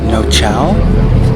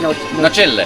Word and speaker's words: Nocelle: starts from Positano to Nocelle.